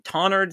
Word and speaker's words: Tonnerd: Influence from towards or forward could yield something like tonward, but I think the most likely is a silent W and short vowel, yielding tonard, similar to Greenwich or Southwark, but spelled accordingly.